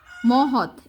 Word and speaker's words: মহৎ: লোকে অবশ্য বলে যোগেন বসাক মহৎ। এটাকে উল্টাপাল্টা কী জানি বলা হয়েছিল। মহ খণ্ডত, খণ্ডতর উচ্চারণটা তর মতো।